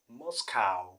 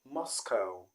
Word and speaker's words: Moscow: number 13 is a city in russia and many people do call it moscow moscow because of the spelling cow but i want you to know that the correct pronunciation is moscow moscow and not moscow